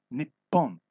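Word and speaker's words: 日本: to herself as Nihonjin Nihon is the Japanese word for Japan so Nihonjin is Japan person or Japanese the word Nihon in a sporting context is often pronounced Nippon in the stadiums in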